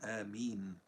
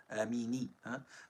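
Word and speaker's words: آمين: If it is connected, the noon gets a fatha because of the consecutiveness of two silent letters, just like it is given a fatha in the words ayn and kaf, ayna kafa, and it is not given a kasra since kasra is heavy after ya, amini.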